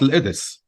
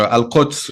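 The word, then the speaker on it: القدس: So the city in Arabic, it's called Al-Idis, or Al-Quds in the colloquial, we say Al-Idis.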